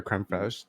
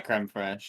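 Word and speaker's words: crème fraîche: Dude, for real though, either sour cream or creme fraiche changes it like crazy.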